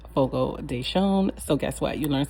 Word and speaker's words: Fogo de Chão: And that is the correct way to pronounce Fogo Deson. We've been saying fogo dechio and that is not the correct way. It is called fogo deon.